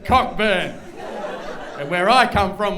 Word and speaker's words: Cockburn: I said it's pronounced cockburn and where I come from we call that thrush and and then he said the CK is silent and I said look